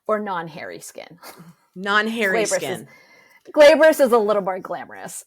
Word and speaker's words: glabrous: like that Gabor or non-hairy skin non-hairy skin glabrous is a little more glamorous right or yeah